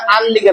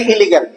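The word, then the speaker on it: illegal: অনেক জিনিস ভুল আছে ইংরেজিতে একটা ভুল আছে মানষে কয় যে বিদেশ কিতা অবস্থা কয় আনলিগাল আসলাম আনলিগাল ইংরেজি শব্দ কিন্তু এটা ভুল উচ্চারণ উচ্চারণ হইলে ইলিগাল আনলিগাল যদি কয় বুঝা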